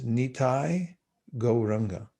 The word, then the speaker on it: Nitai Gauranga: And so the mantra is pronounced like this: Nitai Gauranga.